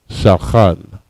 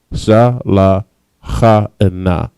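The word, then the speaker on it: שולחן: All right, and the way you pronounce that is shalchan. Shalchan. Sha, la, cha, and na. Shalchan.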